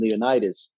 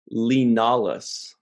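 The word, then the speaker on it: Li Nalas: I can't actually see the name and how they spell it, but it sounded to me like they kept saying Leonidas, Oh, you know what his name is? Lenalis.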